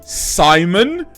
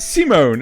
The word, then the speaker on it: Simon: and not French, like Simon from Gurren Lagann, and like, oh yeah, well they pronounce it Simone, and like, because they can't fucking pronounce Simon. Doesn't have an E on the end.